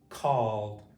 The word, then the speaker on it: called: Called.